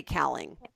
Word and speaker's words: Kaling: I think it's Mindy Kaling.